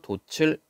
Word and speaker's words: 돛을: 역시 뜻이 없는 모음으로 시작하는 말이 뒤에 있기 때문에 바로 그냥 뒤로 넘겨서 돛을 이렇게 얘기를 합니다.